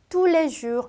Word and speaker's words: tous les jours: 근데 이 세 단어를 제가 조금 빠르게 발음을 하면 어떻게 들리냐면 tous les jours 이렇게 들려요.